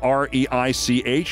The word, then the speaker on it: Reich: Confronting economist Robert Reich, who spells his name R-E-I-C-H and pronounces it Reich, Van Orden said that